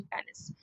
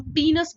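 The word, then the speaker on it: penis: Then urethra and then पेनिस। ठीक है। या इसको हम पीनस बोलते हैं, द करेक्ट प्रोनाउंसिएशन इज पीनस।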